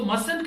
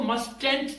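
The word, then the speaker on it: mustn't: नहीं करना चाहिए सो मंट का मतलब है हरगिज नहीं याद रखिएगा इसको मस्ट एट नहीं कहेंगे इसे हम प्रोनाउंस करेंगे मंट उसके बाद है नीड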